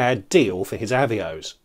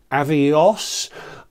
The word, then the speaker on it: Avios: for an Avio avos I know I pronounce avos weirdly I made an entire video making fun of it a little while ago but I'm going to stick with my pronunciation not withstanding the way ba pronounces it but by converting avos